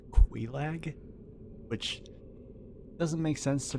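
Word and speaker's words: Quelaag: We're about to go fight Kag. I did some googling actually, but I I realized that her name pronounced Quag, which doesn't make sense to me, but whatever.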